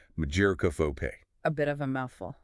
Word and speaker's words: mageirocophobia: And uh the pronunciation, according to the sources, is mageirocophobe.